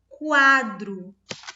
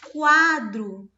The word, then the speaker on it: quadro: E aqui no caso de quadro, eu falo quadro, quadro. O som do U também é pronunciado.